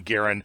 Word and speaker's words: Garand: And yes, John Garand pronounced his name in such a way that it rhymed with errand.